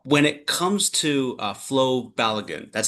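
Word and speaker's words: Flo Balogun: Uh Paul, when it comes to uh Flo Balagan, that's how you pronounce his name.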